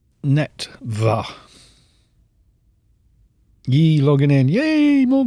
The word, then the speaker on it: Neretva: Still pronouncing it wrong. Neretva.